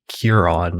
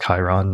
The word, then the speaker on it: Chiron: And so you were just joking before this, how, I mispronounced, and you also evidently mispronounced the asteroid Chiron, and I called it Chiron.